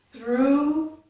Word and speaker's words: through: The vowel sound here is the oo sound. You can see it here, represented by the letter U, and here, oo, as in the word food. So, through, foo, oo, foo, food, through, okay, oo.